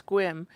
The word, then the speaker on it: Sequim: And Mom was like, I bet it's Squim.